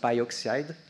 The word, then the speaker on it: PyO3: Which I think is pronounced pyoxide for the O3. That's my old chemistry background, maybe.